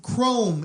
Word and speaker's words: Khrome: But the other thing is that Chrome is introduced. Who's Chrome? And it's spelled Khrome. Oh, Khrome.